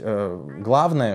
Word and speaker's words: главное: Правильно нужно говорить, главное, что люди скажут. На первую А нужно ударение.